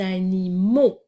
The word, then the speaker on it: animaux: à la fin et on a aussi un x muet et comme pour tout